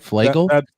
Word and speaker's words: Flagle: Flagle. did I get that right? Flagle? That's the pronunciation, yes.